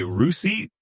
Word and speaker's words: receipt: Then there's receipt. We say receipt, and the P, not invited.